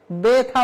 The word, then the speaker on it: ব্যথা: তাহলে এ উচ্চারিত হয় সেই নিয়ম অনুযায়ী ব্যাথা ব্যা ব্যথা বলা যায় না ব্যথা তাহলে আমরা এখানে পড়লাম